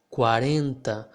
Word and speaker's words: quarenta: And in a word like quarenta, think about the way you pronounce a word like bang or sang. This enta here will sound pretty similar to that.